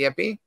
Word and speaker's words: Yipe: it's spelled y-i-p-e so it's spelled like yipe but it's pronounced yippee interesting yeah and it's